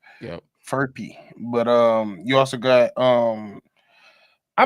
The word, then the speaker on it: Furphy: We got Johnny Furphy. I think it's how you pronounce it. That is such a bad fuck because I'm like Murphy, but it's an F. Yep. Furphy.